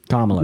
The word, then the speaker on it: Kamala: Kamala is how you pronounce her name.